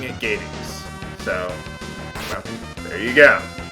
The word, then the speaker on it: Gades: I'm pronouncing it Gades. It rhymes with Hades.